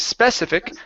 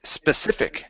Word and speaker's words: specific: All right, so might be better suited for consuming a specific type of food. Try that. Might be better suited for consuming a specific type of food. So instead of specific, it's specific, a specific type of food.